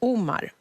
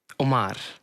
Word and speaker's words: Omar: We’ve had a little debate at work today — we can’t seem to agree on how to pronounce "Oh-mar" or "Om-AR". Om-AR So I was right then!